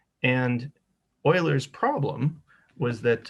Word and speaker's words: Euler: officially introduced to Leonhard Euler, pronounced Euler. If you say Euler, you'll sound stupid, so don't say Euler, say Euler, right? It's important to pronounce these old white guys' names correctly, right?